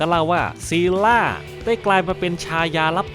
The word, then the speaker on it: Scylla: มี ลักษณะ เป็น อสูรกาย สิล่า เป็น ปีศาจ ตาม ตำนาน กรีก โบราณ นะ ครับ ซึ่ง ถ้า ออก เสียง ให้ ถูก จริง ๆ เนี่ย ต้อง เรียก ว่า ซีล่า ซึ่ง ตำนาน ของ เธอ เนี่ย